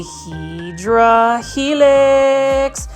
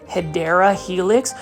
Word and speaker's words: Hedera helix: here plant foldies I just picked up a hedra helix and as you can see right here beautiful